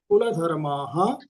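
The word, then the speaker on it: कुलधर्माः: तो पहला जो विसर्ग है कुल धर्मा और स तो उसमें पहले वाले विसर्ग को आधे सा का उच्चारण करना है। कुल धर्म सनातना। अब पीछे क्योंकि सनातना के बाद में कोई अक्षर नहीं है इसलिए उस विसर्ग का उच्चारण विसर्ग का ही रहेगा।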